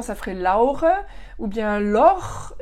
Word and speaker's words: Laure: En allemand, ça ferait Laure, ou bien Lor, ils vont pas avoir du mal. Alors Lor, c'est das Loch, c'est le trou. Donc c'est sympa comme prénom de s'appeler Trou. Et puis, ou bien Laur, puisqu'ils vont prononcer le A-U-A-O, donc Laur, c'est le poireau.